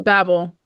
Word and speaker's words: Babel: and then I'm reading how do you say it Carolyn Babel Babble is it Babble it's Babble Babble and then um crazy